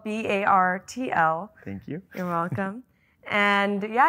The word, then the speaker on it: Bartl: Wait, that's how you say it? Bartl. Yeah. Bartl. Battle. Not battle. Bartl. Like water bottle.